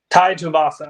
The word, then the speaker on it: Tai Tuivasa: Tai Tuivasa.